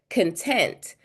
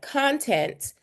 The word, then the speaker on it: content: But if I say it like content, then that means like the stuff I would see in a book, or if I'm a social media and I'm an influencer and I'm filming content, it changes the way